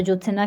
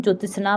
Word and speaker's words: ज्योत्सना: तो ज्योत्सना क्या है, शुद्ध शब्द है जो इस तरह से लिखा जाता है, क्योंकि ज़्यादातर लोग उच्चारण इसका गलत बोलते हैं, ज्योतिषना बोलते हैं, बट क्या होता है ज्योतिषना होता है।